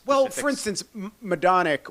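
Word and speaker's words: Majdanek: like well for instance madic which is spelled weird in English right well it's polish so it's Maj is my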